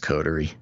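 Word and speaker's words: coterie: just codery i know it seems like it should have some other special pronunciation but it is just codery yeah uh pervert jeffrey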